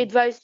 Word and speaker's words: advise: advise you. I advise you to do something. That's it. To I avoid advise you. something. And look, it's written with S and it is pronounced Z.